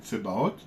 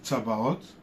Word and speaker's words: Tsebaoth: Donc voilà, donc nous avons Kadosh, Kadosh, Kadosh, Adonai, Tsebaoth, et Kadosh, Kadosh, Kadosh, Adonai, Tsebaoth. Il y en a qui disent Tsabaoth, voilà, mais Kadosh, Kadosh, Kadosh, Adonai, Tsebaoth.